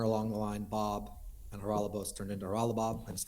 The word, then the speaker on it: Haralabos: The host had said, am I pronouncing your name right? It's Haralabos. And you said, yes, that's right. Haralabos, but yes.